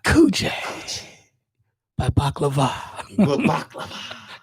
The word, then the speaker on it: baklava: Good baklava. Like it's supposed to be. You gotta say it right. Coochie. Right. Pronunciate from the throat.